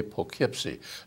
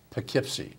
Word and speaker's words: Poughkeepsie: He said, Arnold, you say a little bit, maybe it's from your upstate New York background, but you say Poughkeepsie. It's not Poke, it's Poughkeepsie.